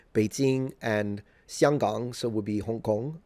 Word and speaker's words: Xianggang: It's kind of weird, because the distance between, say, Beijing and Xianggang, so would be Hong Kong. That's how you say it in Mandarin, by the way.